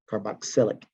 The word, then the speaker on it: carboxylic: I'll try to pronounce it a little bit better than carboxylic. Carbox, like box, boxylic.